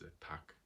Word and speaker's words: takh: culture the Taki and the singular form of that is attack which is spelled t-a-k-h so it's been reintroduced